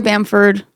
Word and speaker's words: Bamford: Maria Maria and then b a m f like Ford oh okay like bam Ford NOP b m well